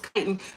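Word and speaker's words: chitin: said me thank you I had to pronounce it right kiten you were telepathically saying say it right FL say it right kiten it's kiten most people who have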